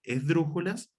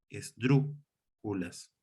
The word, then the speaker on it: esdrújulas: De hecho, si se fijan, la palabra en sí misma, esdrújulas, es una palabra esdrújula, porque se acentúa en la antepenúltima, en este caso, sílaba,